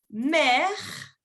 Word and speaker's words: mère: Vous avez, cette personne est mère. Mère. Se pronuncia igual que madre, la mère, ou el mar, también se dice la mère, pero se escribe diferente.